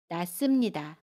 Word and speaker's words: 낳습니다: 낫습니다도 낫습니다 라고 발음해요. 받침 히읗은 발음하지 않고요. 습은 씀으로 발음합니다. 낫습니다.